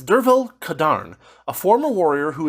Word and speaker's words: Derfel: actually be closer to Dervel, or Dervel. I'm not sure which, but he says it's a Welsh pronunciation, and so you're going to have to forgive me if I screw those up. It's Dervel Cadarn, a former warrior